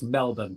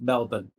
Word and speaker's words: Melbourne: So I can put all the airs and graces on, but it's Melbourne, right? Just Melbourne. Melbourne. With a Yorkshire accent, yeah.